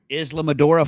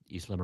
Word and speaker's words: Islamorada: off the coast of Islamorada, Florida. Does that sound right? Islamorada? Islamorada. No. What is it? It's Islamorada. Islamorada. How you say it?